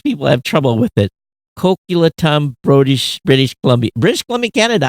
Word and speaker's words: Coquitlam: Coquitlam, British Columbia, Canada. He says, have fun pronouncing that city name. Most people have trouble with it. Coquitlam, British Columbia.